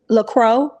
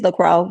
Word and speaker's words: LaCroix: LaCroix. I think it's LaCroix. CROIX. I think that's how you say it.